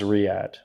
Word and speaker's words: Riyadh: Pauly says it's pronounced Riyadh.